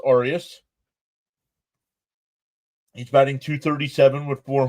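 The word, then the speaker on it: Arias: Oh, Arius. It's pronounced Arius.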